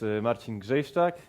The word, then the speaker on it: Marcin Grzejsczak: called spring clubs groovy my name is marcin jeff stock yes you can it's possible to pronounce it even though there are only two vowels yes so today we're